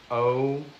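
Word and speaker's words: Ocala: So Cass says it's pronounced oala, right?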